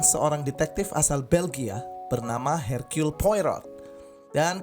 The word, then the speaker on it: Hercule Poirot: detektif asal Belgia bernama hercule poirot dan kalau dari bahasa Perancis kita bacanya org high road yang sedang berlibur di